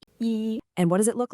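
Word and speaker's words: 一: It's the number one and it's pronounced E.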